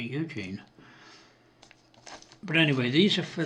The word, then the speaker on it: Eugen: I think it's Eugen or Eugene. I always pronounce it Eugene.